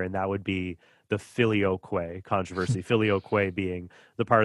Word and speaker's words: Filioque: Filioque. That's four syllables.